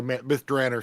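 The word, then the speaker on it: Myth Drannor: of mythr or through or myth drer sorry it's still hard to say that even though I know that's the way Ed greenw pronounce it it doesn't sound Elvish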